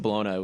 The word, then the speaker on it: Bologna: joseph well i mean it's spelled like bologna i don't think his last name actually pronounced baloney but like joseph balona was the uh the